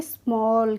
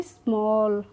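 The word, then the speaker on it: small: स्ट तो स्टॉल और एस एम A double L को पढ़ेंगे स्मॉल क्या पढ़ेंगे स्मॉल क्लियर है तो हम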